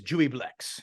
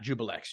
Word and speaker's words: Juiblex: The Ooze Demon Lord is Juiblex, not Jubilex.